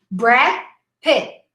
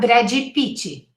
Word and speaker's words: Brad Pitt: Look at the final stop, both the D and the T. Brad Pitt, not Brady Pitt, 4 syllables, right?